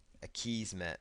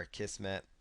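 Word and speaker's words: Akismet: And then there's going to be another plugin here called a Kismet, or a Kismet, depending on how you want to pronounce it.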